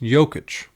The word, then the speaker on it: Jokić: It's pronounced Jokić.